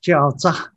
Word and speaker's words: jiaozi: In Shandong pronunciation, it's jiaozi, and becoming gyoza.